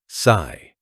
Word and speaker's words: psi: PSI from the Greek letter sigh pronounced sigh.